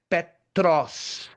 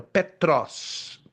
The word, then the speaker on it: Petros: A palavra grega para Pedro é Petros. Como eu tô, como eu estou pronunciando aqui, ó. Petros. P E T R O S.